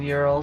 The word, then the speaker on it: Ural: The Ural Mountains is pronounced Ural Oh, by Westerners, not by okay, Europeans. okay. Well, there is no Y in Ural, so Nope.